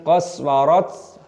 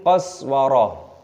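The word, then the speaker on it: قسورة: Ketika berhenti tak marbutoh diganti dibaca ha, bukan min qaswarat tapi min qaswarah.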